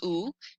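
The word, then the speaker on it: où: For example, OU means or, it's pronounced ou, and then OU with an accent grave, pronounced oo, means where. And in English, we don't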